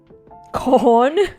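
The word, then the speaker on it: Khorne: do you pronounce it Con do you not pronounce the k uh slanish nerd nuro cornn okay oh my God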